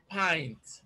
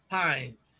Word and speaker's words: pint: six we have i here and it is pronounced pint pint is out of it b is list is